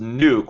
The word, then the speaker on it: Nuk: Your Honor, it's pronounced Nuke. We've had a very big conversation about this on Twitter. It's Nook. It's Nook. In my courtroom, it is Nook.